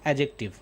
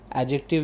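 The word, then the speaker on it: adjective: और तीसरा है एडजेक्टिव। एडजेक्टिव मतलब यहाँ पे डी साइलेंट है तो हम इसे एडजेक्टिव नहीं एडजेक्टिव पढ़ेंगे।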